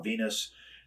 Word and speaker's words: Venis: he told me now the character's Nam is Val Venus the last name is spelled v n i s still didn't really Clue